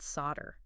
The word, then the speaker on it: solder: Yeah, I always assumed the L was just some ancient pronunciation that faded away.